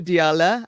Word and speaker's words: Diala: to start with you diala I hope I'm pronouncing your name correctly yeah correct yeah Di okay great can